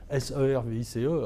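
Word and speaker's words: CIRVIS: 3 ou 4 fois, le sigle service, que je croyais écrit S-E-R-V-I-C-E, alors que c'était C-I-R-V-I-S, mais en tout cas, la prononciation était service, et je l'ai entendu plusieurs fois.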